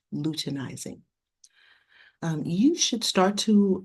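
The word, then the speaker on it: luteinizing: hormone follicle stimulating hormone lutenizing hormone this is pronounced lutenizing um you should start to um recognize some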